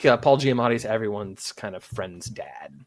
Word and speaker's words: Giamatti: I Oh know his yeah, name is Giamatti, but I think it's funny to say his name wrong.